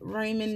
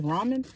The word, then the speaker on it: Ramen: a Hello Kitty um raymen noodle bowl Ramen is that how you say it's Ramen so I got the Hello